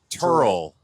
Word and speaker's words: Tyrrell: It's pronounced more like Turl.